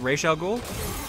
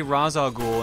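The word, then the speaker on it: Ra's al Ghul: be rage right and that's how you say it right Rachel Gould I believe so yeah because I remember I used to say Ra's al ghoul and then people corrected me on that and I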